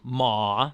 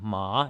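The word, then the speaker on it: 马: Now the third tone, the dipper tone, as it were, ma, that's how you'd spell that one. And that means horse. Yeah, so I just aim down to the bottom of my vocal range and let it bounce up.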